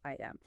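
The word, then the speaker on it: IAM: We're going to kick things off by exploring identity and access management or AM pronounced IM.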